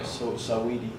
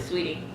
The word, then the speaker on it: Saweetie: It's not Sweetie though. Saweetie. Saweetie. No, it's Sweetie. That's how she pronounced it, Sweetie. Oh, okay. It's just spelled crazy.